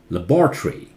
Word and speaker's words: laboratory: British is laboratory. Labor. This becomes tree. American English is different.